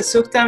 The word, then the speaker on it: سوختم: Was it suktam, suktam, suktam? That was good. I want to know what the translation of that word is so that I can, did I say it wrong? I don't know, probably. No, you said it great.